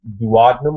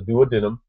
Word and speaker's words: duodenum: of three parts the duodenum or the duodenum the J Unum and the ilium they're going to tell you that the duodenum or duodenum however you want to pronounce it is only about 10